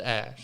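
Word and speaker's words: Æ: But they didn't say how to actually pronounce it because he said the AE is pronounced Ash.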